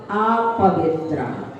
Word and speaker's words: अपवित्रः: उन्हें पढ़ते हैं तो अपवित्रा पवित्रुवा, पवित्रा आ की मात्रा कर देते हैं, विसर्ग साइलेंट हो जाते हैं।